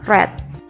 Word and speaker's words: read: verb 3 dari read kita bacanya bukan read lagi tapi red Oke sekarang kita menuju